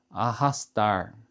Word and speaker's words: arrastar: Eh, quando o r se encontra no meio da palavra, né, com uma R só, a gente pronuncia com o ra, certo? Agora, eh, tem uma outra indicação importante que se a letra R for acompanhada duplamente, né, RR, né, aí ele vai ter uma outra pronúncia, um outro som.